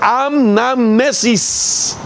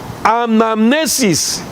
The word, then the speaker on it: anamnesis: más sino que es una palabra del griego que se pronuncia anamnesis vaya es anamnesis hacer esto en anamnesis